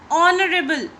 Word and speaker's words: honorable: Honorable. We don't say honorable, do we? H is silent.